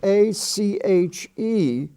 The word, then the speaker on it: ache: column we have the word a c h e which is pronounced ache as I have an ache in my back now that is the